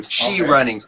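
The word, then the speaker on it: ChiRunning: it as well and essentially it's spelled CH I and then running behind it so she running H I and that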